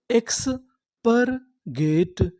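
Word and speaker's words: expurgate: एक रूल बता दूं अगर आपको इंग्लिश के किसी भी मीनिंग के आखिरी में इ लिखा मिले तो हम लोग इ का उच्चारण नहीं करते हम लोग इ से पहले तक का उच्चारण करते हैं तो हमारी पूरी मीनिंग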